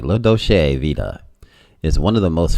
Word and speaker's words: La Dolce Vita: this is italian but let me say it right low doshay vita is one of the